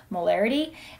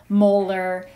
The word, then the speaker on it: molar: is our symbol for molarity and we pronounce this 2.5 molar not 2.5 molarity sometimes we'll write the formula of the solute afterwards so maybe 2.5 molar nacl for mole fraction